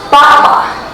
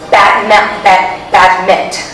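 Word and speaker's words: battement: Batma, it's spelled like badment, but it's batma.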